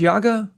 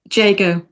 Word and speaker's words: Jago: By the way, your illustrator, how do you is J- his name pronounced Yago? Jago. Oh, it's Jago.